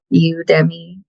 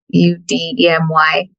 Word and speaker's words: Udemy: Udemy. Udemy.